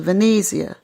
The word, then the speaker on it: Venezia: the boating dock that would take us to Venezia that's the proper pronunciation for Venice we wanted to explore the